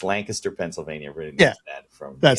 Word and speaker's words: Lancaster: But it's spelled Lancaster, but it's not. Correct. Nobody from that area pronounces it that way. It's No. Lancaster.